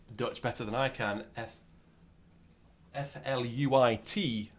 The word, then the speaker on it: fluit: Maybe anyone who can speak Dutch better than I can, F-L-U-I-T, fluit. I think that's how you pronounce it.